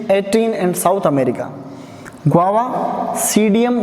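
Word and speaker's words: Psidium: Guava, सीडियम गुआजावा, इसके अंदर P silent रहता है।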